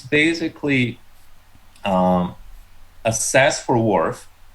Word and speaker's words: WRF: we pronounce it dwarf like fisherman's wharf anyhow so wharf is um it's